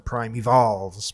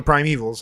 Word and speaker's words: Primevals: So you kind of want to call it the Prime Evolves, but it's it's just called the Prime Evils.